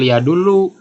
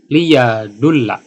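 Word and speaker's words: لِيَدُلَّ: Nah, jadi cara bacanya bukan liyadullu, liyadulla.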